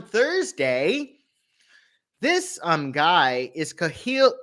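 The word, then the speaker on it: Kahlil: it so on thursday this um guy is kahil kha lil is how you say his name jew juran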